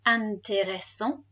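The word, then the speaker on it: intéressant: here therefore it's pronounced antereso because the t is on the end so it's silent but now that he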